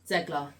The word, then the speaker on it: Zegler: Zegler. Rachel Zegler that's as how you Snow pronounce White, because obviously she got a little bit.